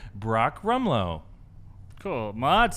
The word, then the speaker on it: Rumlow: Fimo said Brock Rumlow. Cool. Maud said Brock Ramlow. And Sam says, Brock, rum's a good drink. No. Rumlow.